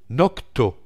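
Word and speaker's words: Nokto: Comment est-ce que je dis NotCo? Nocto, c'est Nocto. Je vais encore me le faire dire, tu prononces mal.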